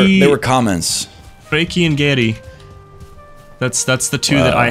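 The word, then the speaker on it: Geri: No, it's Gary.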